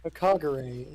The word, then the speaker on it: Hagakure: Kagure is how it's pronounced.